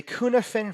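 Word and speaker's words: Cynefin: the consequence okay finally let's talk about the Kuhn ofin framework it's not spelled Kuhn ofin but that's how it's pronounced the Kuhn different framework says that you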